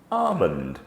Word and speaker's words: almond: L is often silent when included within the word, as in almond, calm, chalk, palm, salmon.